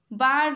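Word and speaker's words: bird: तापर देखो ब्रिज रो डी, जज रो डी, बार्ड रो आर। बार्ड आमे कहूचे बार्ड, आर उच्चारण होची हो नाही, तो आर ही गला।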